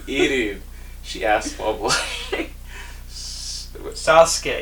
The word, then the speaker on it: Sasuke: Sasuke. It's 2 syllables again. Come on now. It's like sauce K.